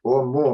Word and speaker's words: 'Oumuamua: horror that it should it might have been pronounced or something but I have checked it so it is or more and more Dear Mama this morning I saw